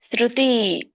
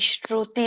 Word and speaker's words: ಶ್ರುತಿ: ಅನ್ನಬಹುದು ನ ಏತೆನು ಅನ್ಬಹುದು ಶ್ರುತಿ ಇಲ್ಲಿ ಶರುತಿ ಅಲ್ಲ ಸ ಇದೆ ಶರುತಿ ಸ ಕೆ ಒಟ್ಟು ಸುಳಿ ಇದೆ ಋ ಋಷಿ ಋ ಉಚ್ಚಾರಣೆ ಮಾಡಬೇಕು ಶ್ರುತಿ ದೀರ್ಘ ಇದೆ ಮತ್ತೆ ಶ್ರುತಿ